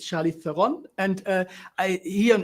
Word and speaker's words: Theron: i don't even know i go by charlize theron charlize theron that's what i've always said because that it's the simplest but it's the real pronunciation pronunciation of my last name is throne which is really hard throne throne game of thrones french guy can't say